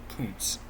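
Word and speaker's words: Kuntz: way you think it is by the way it's spelled it's Koontz not the other way just like how apparently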